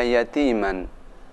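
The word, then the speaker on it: يتيما: Perhatikan cara membaca yatiman. Tanwin bertemu dengan fa atau nun mati bertemu dengan fa, cara membacanya huruf fa sedikit kelihatan.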